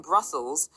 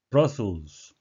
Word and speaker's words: Brussels: Brussels, a city in Belgium, 벨기에 도시죠. And the capital of Belgium, 예, 벨기에 수도인 브뤼셀이 되겠습니다. 여기서 보시는 거는 예, 철자 U가 발음은 예, 어로 많이 난다는 사실이죠.